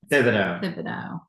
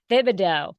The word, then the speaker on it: Thibido: So So I'm going to ask because I just realized I said it wrong. Thibido. Yeah. How do you say it again? Thibido. Thibido. So I threw in an extra syllable in there.